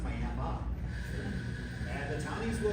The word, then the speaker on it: Miami: Not Miami, because that's in Florida. If you want to go to the one in Arizona, it's pronounced Miami.